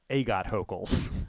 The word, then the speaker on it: Agathocles: So this is just like tribal knowledge of like how to say Agathocles or Agathocles. Yes. Or, as Logan once correctly taught me to pronounce, Agot Hokels.